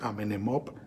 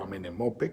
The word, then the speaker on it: Amenemope: con la sabiduría egipcia, Amenemop, acuérdense, o Amenemope, como quieran pronunciarlo.